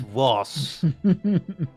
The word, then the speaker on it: Ross: No, you're saying it wrong. It's Ross.